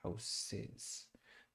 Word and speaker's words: houses: I think the hard thing is just not hard, but it's just remember that the SES, I always think of it as an SIS type of sound. So houses, houses.